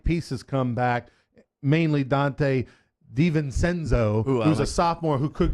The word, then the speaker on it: DiVincenzo: I just want to hear you pronounce that again. DiVincenzo.